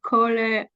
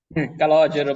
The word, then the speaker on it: Calogero: Colero? Is it correct? Calogero, but everybody is wrong in pronunciation.